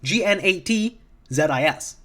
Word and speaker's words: Gnatzis: Because in this comic, they're called Nazis, as in Nat the Bug, Gnatzis.